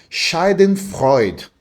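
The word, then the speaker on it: Schadenfreude: o meu alemão aqui, mas é a palavra shiden freud. E a pronúncia foi foi justa porque eu já conversei com muito alemão e eu já tive essa conversa aí é Shiden Freud.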